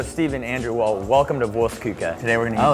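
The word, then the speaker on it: Wurstküche: work so Stephen Andrew well welcome to vuka today we're going to oh that's how you pronounce vuka my cousin and I opened this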